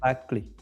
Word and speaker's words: Bärflaggli: Bärflaggli. Bear flagly. Bärflaggli. So it's literally like, is it bear, like bear? Mm-hmm. Bär. Bear flagly. Flaggli. The Flagly. hard G. Flaggli.